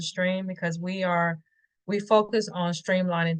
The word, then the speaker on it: STRM: It's STRM. I pronounce it Stream because we focus on